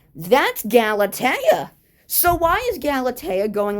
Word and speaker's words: Galatea: So Galatea acted like she she Neptune in like got her name wrong. But the thing is he got it correct. That's Galatea.